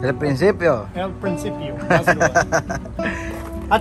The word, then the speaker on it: El Principio: Rancho El Principio. Principio. That's what it was. It was El Princo. El Principio. El Principio.